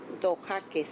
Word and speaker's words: Dojaquez: Remember, if you could, one more time, just spell your first and last name and then pronounce both. Okay. My first name is Dojaquez, D like in David, O, Jaquez.